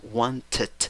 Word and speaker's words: wanted: una sílaba más acá si pronuncias la vocal de la ed porque porque después de la que viene necesitas una sílaba wanted wanted lo mismo pasa cuando el